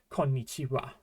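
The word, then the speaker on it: こんにちは: But really, we're just going to say konnichiwa. The important thing to remember is that it's written like this and it's pronounced wa.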